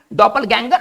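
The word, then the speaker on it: Doppelgänger: और इसका उच्चारण हम करेंगे डॉपल, कुछ खास नहीं है, डॉपल गैंगर।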